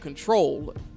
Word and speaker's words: Ctrl: scissors debut album and it's titled control and it doesn't look like Janet Jackson's control album is actually spelled ctrl it's spelled like the key on the keyboard which is pretty unique